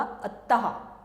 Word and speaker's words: अतः: और फिर ये अ के बाद 2 डॉट्स आ जाती हैं, तो ये अह का आता है, यानी कि अह खाली, अतः, प्रातः। तो ये हो गया अतः। इसको जब हम बोलेंगे इसका उच्चारण होगा अतः, अह, ठीक।